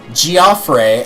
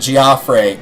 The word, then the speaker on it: Geoffrey: actual voice announcer, and they pronounce it Geoffrey. It is not Jeffrey, it is Geoffrey, and it bugs me.